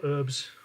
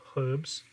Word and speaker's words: herbs: so then we just sprinkle the our herbs all over it as the americans say or herbs in the uk as we say uh